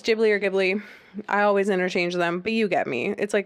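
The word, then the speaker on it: Ghibli: Don't remember if it's Gibbli or Gibli. I always interchange them, but you get me. It's like a studio. Is it Gibli? It's Gibli, says my assistant.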